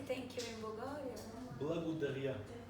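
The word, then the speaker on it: благодаря: Blagodaria. Blagodaria.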